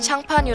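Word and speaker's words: Champagne: 샹파뉴 지역 특산의 포도주로 프랑스에서 샴페인을 발음할 때도 지역명과 똑같은 샹파뉴 부르죠 샴페인의 기준은 아주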